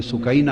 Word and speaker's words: سکینہ: امام حسین کی پیاری لخت جگر شہزادی سیدہ سکینہ، اصل نام ان کا عربی وزن میں سکینہ ہے، عرف عام میں سکینہ چلتا ہے، مگر